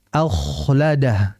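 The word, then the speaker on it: أَخْلَدَهُ: Ya, bukan akh yang betul akhladah.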